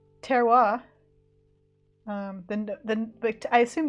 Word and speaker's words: terroir: gin tasting all day mirafora says terroir according to this French wine dude on YouTube good to know apparently